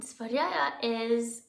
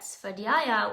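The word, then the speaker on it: स्वाध्याय: I've heard it pronounced different ways, but I usually say Svadhyaya. And Svadhyaya it's the study of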